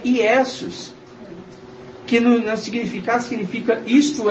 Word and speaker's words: Iesus: No latim a pronúncia é Iesus, que no significado significa isto é um porco, que era o sacrifício feito para Zeus.